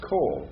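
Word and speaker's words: כל: Kaf, holam, lamed, all, every, each, whole, and sometimes you have it spelled with a makaf, and it's still pronounced kol. Why? Kametz ketuv. It's in a closed, unaccented syllable.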